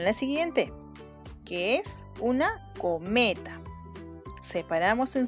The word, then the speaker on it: cometa: Ahora sí, vamos a ubicar la sílaba tónica. Co-me-ta. ¿Cuál será? Vamos de nuevo. Co-me-ta. ¿Cuál será la sílaba tónica? La más fuerte. Muy bien, es me. Ya está. Y como esta es la sílaba tónica, entonces co y ta serán sílabas átonas.